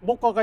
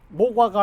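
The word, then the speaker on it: 모과: 중국에도 중국에도 이제 한자로 쓰니까 나무 목자에 오이 과자 쓴 목과가 있는데 어 우리나라에 모라고 생각하시면 안 돼요. 중국에서 나무자 오이 과자 쓴 거는 중국 발음으로 이제 무과인데 무과 어 나무 발음이 이제 중국 발음으로는 무가 되고 관은 똑같아.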